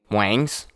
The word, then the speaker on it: Nguyen: about when we're not talking about no chicken wings we gained some wings it's Wayne spelled out